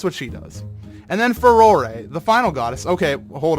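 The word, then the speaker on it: Farore: and according to them, Furore is pretty close to the proper Japanese pronunciation, or how they would say it. So that's my opinion. You can say it however you want, but I say Furore.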